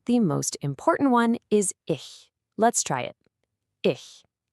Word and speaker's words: ich: First one, and the most important one, is ich. Let's try it. Ich. You hear that soft sh sound at the end?